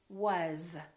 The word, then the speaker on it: was: we use every day that finish with the letter with the sound Z and they have a vowel before them here are some of those words is we don't say he is my friend we say he is my friend another word is was because these those please always so these are some very common words that we use all the time that are spelled with an S and pronounced with the Z sound alright let's practice some